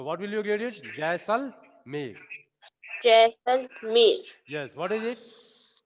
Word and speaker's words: Jaisalmer: Jashmir, many Jaisalmer. place Jaisalmer. Jaisalmer. Jaisalmer, Jaisalmer. many Listen it. What is it? Jaisal- Jaisalmer. Look at the board. Jaisalmer, J-A-I. What will you read?